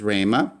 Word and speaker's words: rhema: So you can see this in English a little bit, where the H is silent. You don't really say it when we say rhetoric, but rhema is a Greek word for word, saying or expression.